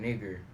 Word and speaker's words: Niger: Now, read it how it's pronounced. That was called nigger.